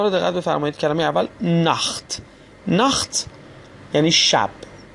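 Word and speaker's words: Nacht: کلمه اول نخت. نخت یعنی شب. خب دقت کنید در این کلمه قبل از تی ها آ اومده، به همین خاطر تی ها رو ما خ تلفظ میکنیم.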